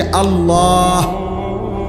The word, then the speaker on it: আল্লাহ: শেষে আল্লাহ। শেষে একটা গোল হা আছে ছোট হা।